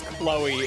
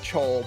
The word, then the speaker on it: Chol: I'm in a Retro Rebound video, but as Chloe instead of Chol because he read my name wrong.